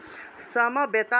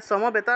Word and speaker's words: সমবেতা: সেটা ক্ষেত্রে উচ্চারণ হয় সামবেতা আছে এই বটা হলো অন্তস্থ তাহলে সমবেতা উচ্চারণ না করে সামবেতা সামবেতা ইউ উৎসবহু যুদুৎসব আছে